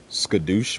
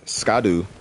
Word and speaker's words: Scadu: Reddit as well that it's not pronounced scad we all found scad and I'm sure like a bunch of us put that Jack Black freaking uh voice in and sco stuff but uh apparently scadu in Old English is Shadow